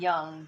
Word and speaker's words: yang: is in the center yin and yang or yin and young depending on how you're pronouncing it right the divine